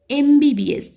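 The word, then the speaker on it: MBBS: এম এর উচ্চারণটা হচ্ছে ভাওয়েলের মতো, এ সাউন্ড আসতেছে, এমবিবিএস।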